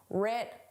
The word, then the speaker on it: writ: The W is silent just like in the word right. The W is silent. But in spelling it's there. In pronunciation it isn't. Rit large.